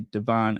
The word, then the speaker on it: Devon: So if you hear someone from Chicago say Devon Avenue, it's actually Devon. But just like in New York, they call Houston Street Houston Street. Well, we have our own pronunciation. Um, Devon is Devon. Paulina is Paulina. Seriously, that is the Chicago pronunciation.